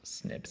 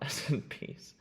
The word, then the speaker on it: SNPs: They're pronounced snips actually not SNPs but they're they basically just means that there's a single base change in a gene.